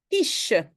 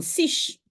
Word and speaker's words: quiche: je peux prononcer k quich une quiche oui Q u donc le K est écrit comme qu sinon je dis une Siche ok alors nous commençons